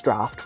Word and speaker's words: draught: But no, it's draft without any form of F or even a PH in sight.